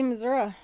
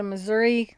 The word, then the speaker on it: Missouri: they say prescott and people that go to missouri say missouri until someone goes it's not missouri it's missouri or i may still not be saying it right i got things from